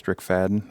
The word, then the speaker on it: Strickfaden: How do you say his last name? Fadden? Strickfaden. Okay.